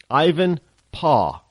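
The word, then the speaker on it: Ivanpah: n p a h Ivan paw you know how they used to say Dad back in the in the in the 1800s paw anybody watch Little House in the prairie was Charles Les they all said paw they didn't call him dad or daddy it was PAW so Ivan paw solar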